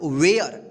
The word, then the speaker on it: ware: WARE, इसको क्या पढ़ेंगे हम, वेयर।